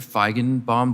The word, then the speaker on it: Feigenbaum: Feigenbaum, did I pronounce that correctly, sir?